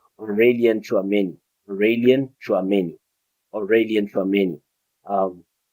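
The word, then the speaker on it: Aurélien Tchouaméni: Yes, I'm pronouncing it finally right. His name Aurelian Chouameni.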